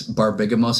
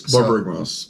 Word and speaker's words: Borborygmos: It's Barbigamos and Fibblethip. Oh, nice. Borborygmos.